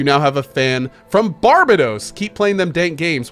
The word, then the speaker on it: Barbados: It's Barbados. Barbados. That's how you pronounce it. Why did I think it was pronounced Barbados?